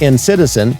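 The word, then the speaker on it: NCTzen: NCT zen - NCT NCT zen, pronounced as “ENCITIZEN” is the combination of NCT and Citizen.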